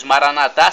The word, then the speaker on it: Maranata: tempo de Deus e maranatado Aramaico para o português Maranata significa vinde Senhor Jesus os evangélicos pronunciam com a tônica na penúltima sílaba Maranata não importa o significado